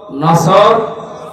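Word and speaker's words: نصر: আয়াতে না তিনটা সূরা তিন আয়াত বিশিষ্ট আসর নসর কাউসার তার ভেতরে একটা পড়েছি এটা তেলাওয়াত শুদ্ধ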